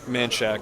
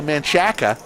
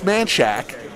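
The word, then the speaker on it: Manchaca: right on the border i'm glad you pronounced it right you're new to austin some people would say manchaka but uh it's manchac i've got a whole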